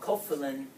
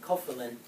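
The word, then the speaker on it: cofilin: is that a protein called kofin or you can pronounce it kilin I pronounce it kofin kilin is required so kopin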